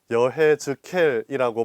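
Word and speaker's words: יחזקאל: 말할 수 있습니다 히브리어로 여해 즈케이라고 발음되는 에제키엘은 하느님은 강하시다 하느님은 강하게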